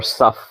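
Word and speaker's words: صف: In fact, even in Arabic, it's sif or saf. That's how they say it.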